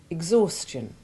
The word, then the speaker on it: exhaustion: The H is sounded in exhale and exhume, but is silent in exhaustion, exhibition, exhilarated, and exhort.